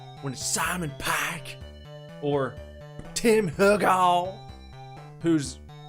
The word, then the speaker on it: Hugo: it's Simon Pike when Simon pack or Tim Hugo whose name is actually Tim hugel but I I just feel like when I say hug all it just gotta it's got a better snap